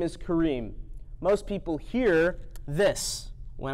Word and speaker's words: Karim: how to say my name my name is Kareem most people hear this when I say that cream is not my name lots of people like